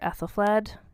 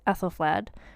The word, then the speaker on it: Æthelflæd: So in 886, a marriage was arranged for Æthelflæd, who was at this point 16 years old.